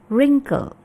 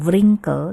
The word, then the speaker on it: wrinkle: Wrinkle ini W-nya silent ya, kita tidak baca. Jadi bacanya bukan wrinkle tapi wrinkle.